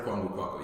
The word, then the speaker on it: Kwangu Kwako: But first, you said you were with Kwangu Kwako. Did I pronounce that correctly? Kwangu Kwako, yeah.